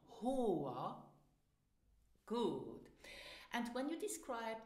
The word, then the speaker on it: Haar: Now listen and repeat after me for the correct pronunciation. Haar.